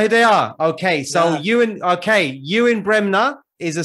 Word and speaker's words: Ewen: spotting or train yeah training you're mcgregor no you and bremner brenda yeah you and bremner he you and you and spelled like like the way you've got it spelled